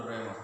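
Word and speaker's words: ῥῆμα: But we don't pronounce the H. But we have to let the reader know that there is an H before the rema. Okay, it should be pronounced as simply rema.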